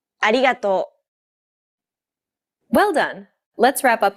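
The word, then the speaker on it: ありがとう: cutter and so on don't roll your tongue like an English R most of the air should go around the sides of your tongue the same way it would when pronouncing an l sound this is why many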